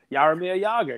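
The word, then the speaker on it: Jaromír Jágr: It's a silent J. Jogging? Yog. Yog. Yarmir Yager.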